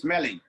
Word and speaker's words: Schmeling: When I was in Germany, they said Max Smelling. Over Oh, here, okay. we pronounce it smelling because it smells, right? Yeah, So we yeah. said smelling. But then Uh, it was Max Smelling because it's in the enunciation is much faster. So it's like okay.